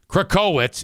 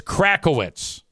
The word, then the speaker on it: Crackowitz: And he goes, "And it's not uh KCowitz, it's Crackowitz." And then he doubled down and said the it's spelled phonetically right in front of you.